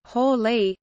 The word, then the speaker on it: Halley: Colin Ronan, one of Edmund Halley's biographers, preferred Hawley, similar to Holly.